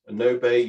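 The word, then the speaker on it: Gnobe: was um no bait i think it's pronounced no bay g-n-o-b-e g-100 gt it was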